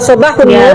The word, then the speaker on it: sabahun nur: Jika itu "sabahul khair", alif lam diucapkan. Jika itu "sabahun nur", karena itu huruf matahari, alif lam...